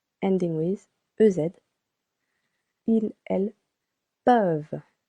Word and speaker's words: peuvent: Vous pouvez. Regular again. Ending with EZ. Ils, elles peuvent. Be careful. Not pouve, but peuvent.